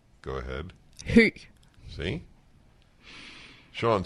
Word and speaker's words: Høg: As for example, her last name is H-O-G, but it is not pronounced Hug. It's pronounced, go ahead. Høg.